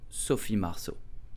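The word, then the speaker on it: Marceau: say Sophie Marshall so the letter e a u make the sound o in French so Sophie marso did you know that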